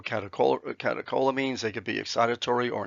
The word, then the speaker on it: catecholamines: includes what are called the catecholamines. That's how you pronounce that.